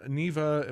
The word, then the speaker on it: Neva: it wrong forever I think is it It's Neva correct it is Neva yes okay and that's